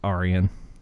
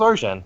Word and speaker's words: Arjen: It's Arian. Arian? I thought it was Arjen.